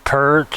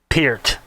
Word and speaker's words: Peart: his name Pierce not pert or pierret Peter that's Gary Lee once said it's a it's ear with a p at the beginning and the T at the end that's uh that's how